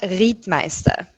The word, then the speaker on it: Riethmeister: we pronounce your surname it's read Meister so it's a quite unique German name I think there are